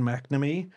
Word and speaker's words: McNamee: That's how you say it. McNamee. How is get McMenemy? You know that McMenemy guy?